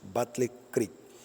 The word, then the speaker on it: Battle Creek: de soñó estando en Battle Creek así se pronuncia Battle Creek hermanos vamos a leer este sueño que está